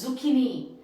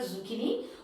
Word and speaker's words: zucchini: the next one zucchini it is zucchini and this is an italian word not a latin word it is an italian word zucchini which means a vegetable